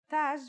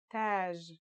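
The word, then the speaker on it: تاج: using some of these letters repeat after me Taj means crown that's that in the initial form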